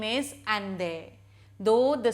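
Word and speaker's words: Allende: chapter again and again the first name is ande though the spelling is different but it is pronounced as ende ende was the founder of the Chilean Socialist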